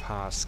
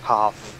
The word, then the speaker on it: path: Ich möchte den Pass clearen. Pass. Was? Pass. Hab ich doch gesagt. Nee, ist clear. Nein? Hab ich falsch ausgesprochen? Es heißt Path. Path. Path. Nicht Pass.